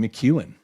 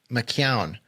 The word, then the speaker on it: McKeown: But how'd I do on McEwen? That one is McKeown. It looks like McEwen, but it's And I knew a